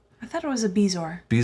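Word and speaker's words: bezoar: I thought it was a bezor. Bezor actually comes from a French word and it's it would be pronounced bajoa.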